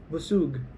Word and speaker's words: busug: Busug. Yeah. So what you read is the pronunciation.